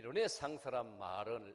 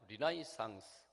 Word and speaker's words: 르네상스: 라틴어에서 이 르네상스란 말이 이제 우리에게까지 전해졌어요. 이 영어로는 발음을 하면 리나이상스. 우리는 원래 발음대로 라틴어 발음대로 우리 한국에서는 르네상스 이렇게 부르고 있습니다.